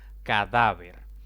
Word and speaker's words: cadáver: con tilde ejemplo 1 cadáver esta palabra tiene tres sílabas contando de izquierda a derecha la mayor intensidad de voz cae en la penúltima sílaba y como no termina en n o s o vocal debo colocarle tilde esa es la regla